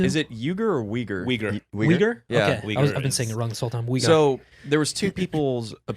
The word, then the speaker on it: Uyghur: Uyghur.